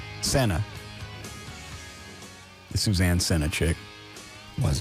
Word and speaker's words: Senna: Senna.